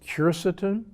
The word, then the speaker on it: quercetin: Another of my favorite supplements is quercetin, sometimes pronounced quercetin.